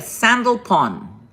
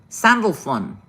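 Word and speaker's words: Sandalphon: a n d a sandal Pon sandal Fon maybe that's what it says that's how you say s a n d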